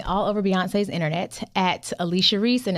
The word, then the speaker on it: Alechia: can find me all over Beyonce's internet at Alicia Reese and it's spelled Al EC h i a last name Reese re e s e you can also connect with me tribe.